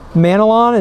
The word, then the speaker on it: Manalon: And his last name is Manalon. It's M-A-N-A-L-O-N.